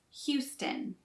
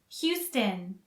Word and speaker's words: Houston: and jon bon jovi the first part of houston rhymes with you houston u and the second o is not really pronounced so it's houston houston houston houston is known